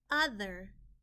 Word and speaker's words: other: Other, other. The O in this word is making a short U sound, and the TH in this word is a digraph. TH makes one sound.